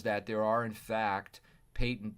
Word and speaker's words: patent: there are in fact patent this is pronounced patent means that there's that